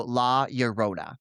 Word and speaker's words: La Llorona: So the double L is pronounced like a Y, so La Llorona.